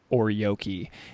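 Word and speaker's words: ōryōki: you write in the book about this concept called or yoki and did I pronounce that right yeah okay cool I just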